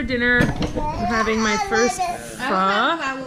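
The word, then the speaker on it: phở: I'm having my first pho. How do you say it? Pho.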